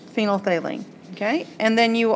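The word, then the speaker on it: phenolphthalein: it's called phenol thaline I know it's spelled really weird it's really long it's got all these letters in it you're thinking what in the world but it's just phenol phine okay and then you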